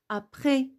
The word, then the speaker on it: après: Après, vous n'avez pas écouté S parce que c'est une lettre muette.